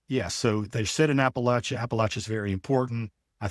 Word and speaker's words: Appalachia: true of Appalachia and I want our listeners to take careful not of how we're saying this word um because if you pronounce it Appalachia I'll throw in Appalachia or Appalachia. You get that one a lot.